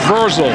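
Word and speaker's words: Vrzal: It's V R Z A L. I guess it's Versel is how you say it. But I'll tell you what, however you say his name, Mr. Verszel, that was a heck of a block.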